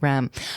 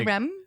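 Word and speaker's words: R.E.M.: I don't think you're supposed to pronounce it out. No, you don't say Rem? I think it's just REM. It's REM. It's not Yeah, Rem. you say R. It's not a word. It's an acronym.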